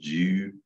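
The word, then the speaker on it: 灸: But in Chinese, it's called Ju.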